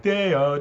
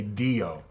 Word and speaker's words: Deo: In this one, I had to spell out Tintindeo phonetically, D-A-Y, like Deo, Deo, because the AI wanted to say Dio. And I didn't like the way that sounded, so.